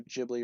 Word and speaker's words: Ghibli: Thoughts on Studio Ghibli films? I think they're awesome. I think Studio Ghibli or Studio Ghibli, however you want to pronounce that, I've heard it pronounced either way.